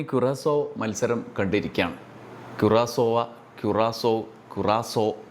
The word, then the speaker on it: Curaçao: മത്സരം കണ്ടിരിക്കുകയാണ് ക്യുറാസോവ ക്യുറാസോ ക്യുറാസോ എന്ന മൂന്ന് പല രീതിയിലുള്ള ഉച്ചാരണങ്ങൾ വരുന്നുണ്ട് മലയാളത്തിൽ ക്യുറാസോവ എന്ന് നമുക്ക് പറയാംസോവ അല്ല ക്യുറാസോ എന്നാണ് നമ്മൾ അതിന്റെ ശബ്ദം ഗൂഗിളിൽ അടിച്ചു നോക്കുമ്പോൾ കാണുന്നത് നമുക്ക് എന്തായാലും കാര്യം മനസ്സിലായല്ലോ